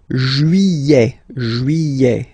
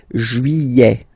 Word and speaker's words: juillet: Juillet. Don't pronounce this final T, E-T here at the end. Juillet.